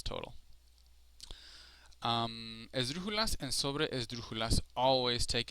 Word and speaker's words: esdrújula: Esdrújulas and sobre esdrújulas. So this one is pretty straightforward. Esdrújulas, the strongest sounding syllable for an esdrújula is the third to last, or the antepenúltima in Spanish.